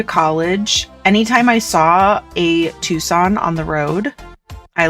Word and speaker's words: Tucson: have, oh my gosh, when I was going to college, anytime I saw a Tucson on the road, I like saw it as a sign.